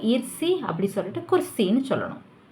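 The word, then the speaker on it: कुर्सी: Hindi name கு ரா சி தான். பட் அது வார்த்தையாக சொல்லும்போது குர்சி.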